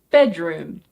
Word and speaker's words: bedroom: So it's not bedroom, it's bedroom. Bedroom.